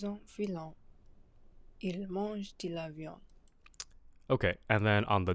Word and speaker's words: viande: Il mange de la viande. Okay, and it also sounds like you're making the last syllable on viande silent, or the last consonant, sorry.